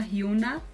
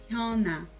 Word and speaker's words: Hyuna: Muita gente fala Hyuna, mas é Hyuna, Hyuna.